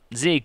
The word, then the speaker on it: Zeke: sick sick the meek zeke zeke it rhymes with freak um all right so